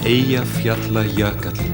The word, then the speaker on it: Eyjafjallajökull: So, Daniel, the question everyone wants to ask you is, how do you pronounce the name of that Icelandic volcano? Eyjafjallajökull.